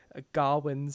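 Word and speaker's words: Gawain: and i i wrote in my letterbox review gawwins as they all pronounce it his shame clouds everything through the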